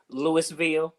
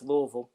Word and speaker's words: Louisville: kentucky she was from lewisville and she's like robert it's louisville i said it's lewisville that's how i spell it's lewisville um we had a